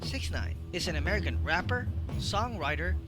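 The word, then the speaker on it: 6ix9ine: on may 8 1996 known professionally as takashi69 or j69 pronounced six nine is an american rapper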